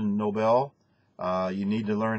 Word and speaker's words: Nobel: You talked about the Nobel Peace Prize instead of Nobel.